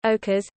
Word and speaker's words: occas': Can be shortened as piece d'occas or even occas, pronounced ochres.